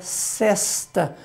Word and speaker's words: sesta: E nós temos ainda por último, Léo, a palavra que até muitos a pronunciam fechado, mas essa palavra, o normal dela é a pronúncia aberta, que é sesta.